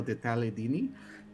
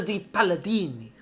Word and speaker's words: di Palladini: I can only say Lucio de Taledini. So It is a di Palladini.